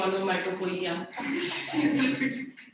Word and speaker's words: onomatopoeia: Spelling देखो आप, it's not onomatopoeia. Okay? The O is silent. You're laughing at the wrong pronunciation. I imagine someone saying onomatopoeia.